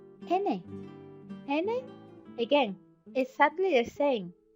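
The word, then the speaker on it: eñe: nobody else has this any and is easy to pronounce because it's like the cluster and G like in lasagna or n y and vowel or n i and vowel like in Canyon that is ESP Manana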